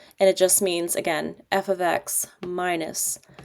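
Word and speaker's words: f(x): And just friendly reminder, it's pronounced f ofx, not f* x or fx. It's f ofx.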